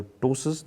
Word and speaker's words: ptosis: The ptosis, the p is silent.